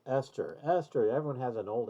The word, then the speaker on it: ester: names and they're like okay um arkor and then your little kid says uh no that's esther and you're like teacher look esther r-c-o-r oh i get it yes r-c-o-o-r-ester and then they won't